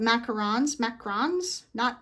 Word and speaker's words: macaron: So, you know, the French, not macaroons, but those have coconut all over them, but macarons, not the French president, Macron, but the cookie with the filling in the middle, macaron.